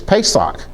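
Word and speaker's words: פסח: It's pesock. That's Passover. Okay? And Passover is spelled with a pay. You notice the doggish in the middle that in in that um sates, not incend, a p sound.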